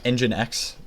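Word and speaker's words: nginx: It runs in engine X that's how you pronounce it assisted by my good friend um uh GPT.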